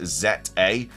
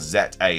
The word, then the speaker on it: Z-A: this fact so apparently in Japanese it's called zet a it's not called like Za or Za a or anything it's z